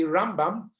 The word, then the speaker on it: Rambam: The stress, when we say Rambam, we do the stress at the first half, Ram, that's right, and Ramban, you do the stress on the second half of the word to get the nun, the Nachmanides in it.